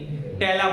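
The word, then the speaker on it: patella: bone है उसके नीचे टेला बोन टेला क्या बोलते है इसको साइलेंट है टेला ठीक है तो ये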